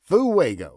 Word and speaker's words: fuego: Garland had a way of saying fuego that gave it three syllables. Fugo was about right phonetically.